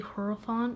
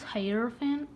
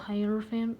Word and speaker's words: hierophant: to say its name i used to say horophone but that's not right so i think it's hierophant please don't abuse me in the comments if i'm wrong but i'm just called hierophant hyperfaint green so hierophant